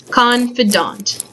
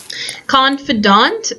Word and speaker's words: confidant: Confidant. Confidant, again, it looks like confident, but it's a different word. The emphasis is on the first syllable, and it's just someone you can trust.